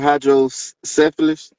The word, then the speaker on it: hydrocephalus: But um when the the hydro how you say it, hydrocephalus. Yeah, hydrocephalus.